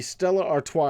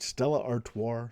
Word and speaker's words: Stella Artois: It's 2 ounces of beer in the Stella Artois. Am I pronouncing that right? Stella Artois?